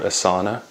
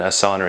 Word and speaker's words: Asana: No, but they call the company Asana, even though in yoga you would say it's an asana. Yeah, stick out your asana. They've changed the pronunciation. No, I know. I'm just saying. Okay, so they call it Asana, which is kind of a posh version of asana. Asana sounds like sticking your ass out, and Asana is like,